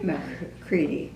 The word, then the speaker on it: McCready: McCready. McCready, okay. I knew I should have asked you about your last name too, pronunciation.